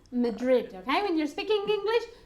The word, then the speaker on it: Madrid: in English they're great Madrid Madrid I mean you're speaking English try to say the names of the places in English the pronunciation of Maverick